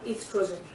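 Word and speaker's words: oestrogen: Now how it takes place, ovary is responsible for the secretion of hormone estrogen. O is silent.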